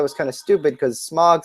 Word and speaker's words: Smaug: pronunciation guide and it is supposed to be pronounced Smaug I don't really like that very much I